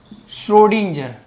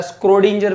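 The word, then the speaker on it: Schrödinger: Model is proposed by श्रोडिंजर। ये किसने दिया था, श्रोडिंजर ने दिया था, स्क्रोडिंजर भी बोल सकते हो, स्पेलिंग थोड़ी ऐसी ही है।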